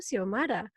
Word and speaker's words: Shomara: When you told me, I'm like, oh, Xiomara. And I've only really seen it with an X rather than with an SH.